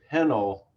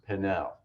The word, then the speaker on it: Pennell: on who's uh rebecca it's pronounced penal but it looks like her name should be pronounced pennell rebecca pennell was the